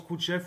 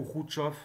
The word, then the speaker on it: Khrouchtchev: khrouchtchev alors vous verrez khrouchtchev ça se prononce coûte chef ou route chauffe c'est bon jeu là je j'ai toujours entendu les deux donc c'est khrouchtchev qui